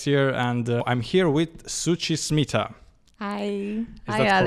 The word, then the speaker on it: Suchi Smita: Alex here, and I'm here with Suchi Smita. Hi. Is that correct? Yes, perfect. Thank you for pronouncing it correctly, no, because people struggle.